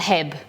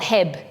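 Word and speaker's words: H-E-B: don't you pronounce it HEB it's h. e dob and the Americans say he EB they don't call it Hebb so exed I were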